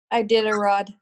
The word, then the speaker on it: Iditarod: Iditarod.